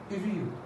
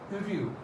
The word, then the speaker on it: heureux: It is heureux, heureux, heureux, heureux. It's quite cumbersome to pronounce, but with lots of practice, you can make this sound. This H is not spoken; it's mute.